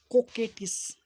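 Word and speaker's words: coquettish: देखिए इसका प्रोनाउंसिएशन जानते हैं क्या होता है? इसको को पढ़ेगा, इसको के पढ़िएगा, कोकैटिस क्या पढ़िएगा? इसको को, आई जो क्यू ई है उसको के, इसको टिस, कोकेटिस क्या बोलेंगे? कोकेटिस।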